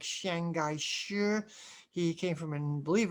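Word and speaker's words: Chiang Kai-shek: into play shang kai-shek in chinese his name is pronounced something like shanghai shir he came from and believe in northern merchant family lived from 1887 to 1975.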